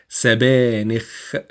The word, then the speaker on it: سبانخ: سبانخ, and make sure to pronounce the kha at the end.